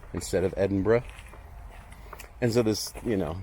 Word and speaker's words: Edinburgh: I thought was ridiculous like you're going to pronounce belois beaver and give people a hard time for saying Edinburg instead of Edinburgh and so this you know there's just idiosyncrasies